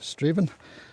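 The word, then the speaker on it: Strathaven: Nearest town after that will be Straven which is spelled like Strath Aan pronounced Straven which is where we stopped for our comfort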